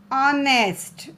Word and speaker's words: honest: Honest. Okay, honest. H is silent here.